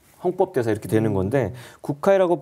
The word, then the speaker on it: 구카이: 그러니까 일본 불교 이꼴 이제 헌법 대사 이렇게 되는 건데 국회이라고 발음하는데 이분이 이제 84년도에 이제 태양벌이 만들었던 체카이거 감독이 메가폰을 잡은 영화가 있어요.